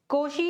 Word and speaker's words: Cauchy: कोशी यूलियर equation या इसे यूं कहूं तो कुछ लोग तो कोशी बोलते हैं, कुछ लोग कोशी बोलते हैं।